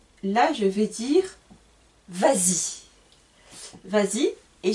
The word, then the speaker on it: vas-y: Par contre, encore une fois, avec les pronoms en ou I, Y, là je vais dire vas-y. Vas-y et je rajoute un S pour la liaison, pour la prononciation.